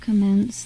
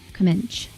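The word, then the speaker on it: kemençe: It's called commence. The C letter is pronounced like ch. Comment.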